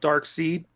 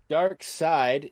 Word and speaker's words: Darkseid: always go to this it says it's spelled dark seed but it's dark side okay somebody at dc is not a spell all right no they don't dark side is perhaps dc's ultimate